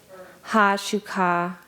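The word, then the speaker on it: Haa Shuká: And in the introduction, there's a really beautiful explanation of at-u, and it's spelled A-T period, O with a accent mark, O-W, at-u. Ḥ'asheechtlaa, H-A-A space S-H-U-K-A with an accent, Ḥ'asheechtlaa, our ancestors.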